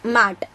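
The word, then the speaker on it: matte: The pronunciation is mat.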